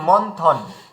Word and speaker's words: মন্থন: আচ্ছা, তারপরে দেখুন এই থ থাকে, থ থাকলেও নয়ের কথা বলছে, কেননা ত থ দ ধ ন। তো বিন্দি থাকার কারণে, ময়ের উপরে বিন্দি থাকার কারণে আর পরে থ থাকার কারণে ওখানে দন্ত নয়ের সংকেত করেছিল, এই জন্য মন্থন।